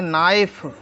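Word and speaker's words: knife: इसको हम पढ़ेंगे नॉट के एन आई एफ ई इसको हम पढ़ेंगे नाइफ ई का कोई अर्थ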